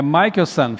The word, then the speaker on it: Michelson: o meu nome é um sobrenome né é michaelson filho de Michael Mas tá tudo certo porque